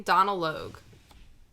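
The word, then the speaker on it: Donal Logue: How do you say his name? Donald Logue. Sorry, he spells Donald weird. There's no D at the end.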